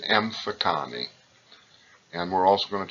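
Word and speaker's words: Mfecane: looks difficult you should memorize it and it's pronounced M Fattah knee and we're also going to talk about the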